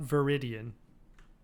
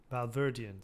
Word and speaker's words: Valverdian: Not Veridian. Valverdian. Say it right.